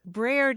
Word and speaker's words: breard: Breard is spelled B-R-E-A-R-D, breard.